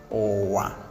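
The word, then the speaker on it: ụwa: Okay, and then next we have low, low tone. Here we have owa.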